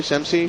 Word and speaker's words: Semsey: Am I pronouncing your name properly? Semsey? You got it. Semsey? Which is Z or an S sound? Semsey. Semsey. There you go.